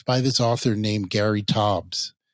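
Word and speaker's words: Taubes: about it it's by this author named Gary Tobbs it's spelled t-a-u-b-e-s he's a scientific writer for the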